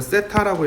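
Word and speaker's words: θ: 이거를 세타라고 읽어.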